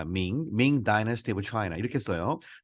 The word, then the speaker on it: Ming: 영어는 밍이라고 발음합니다. Ming Dynasty of China 이렇게 써요.